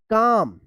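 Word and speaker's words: calm: सी ए एल एम। इसको क्या पढ़ेंगे? तो काल में पढ़ेंगे। नहीं गलत होगा। इसको पढ़ेंगे काम। यानी एल यहां पे भी साइलेंट रहेगा।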